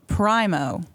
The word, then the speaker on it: Primo: will pronounce it Primo.